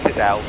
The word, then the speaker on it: Cadell: Is it Cadell or Kiddle? Cadell. I think it's Cadell. I'm going to ask him when we get there. It is Cadell.